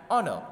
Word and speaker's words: honor: what is coming and honor o n o r combination of this is coming first so its pronunciation is somehow vowel vowel in nature so that's why we